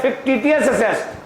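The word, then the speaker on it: fictitious: यहां पर सी साइलेंट है, क्या बोलते हैं? फिक्टिटियस asset.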